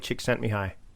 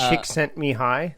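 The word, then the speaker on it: Csikszentmihalyi: the term but Mahali chick sent me high. Yes, that one. Just say chick sent me high.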